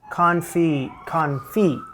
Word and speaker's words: confit: Confit. Don't pronounce the T, Jamie.